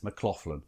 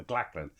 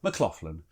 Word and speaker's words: McLachlan: Because normally I call him McLachlan as he spells it, but McLachlan.